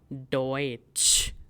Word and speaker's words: Deutsch: The German word for German is Deutsch, which contains EU. That means we have to pronounce EU as OE.